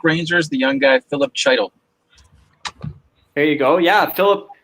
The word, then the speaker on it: Chytil: All right, we're going to take the New York Rangers, the young guy, Philip Chytil. There you go. Yeah, Philip, I believe they pronounce it Heidel, but yeah, Philip Chytil, yeah.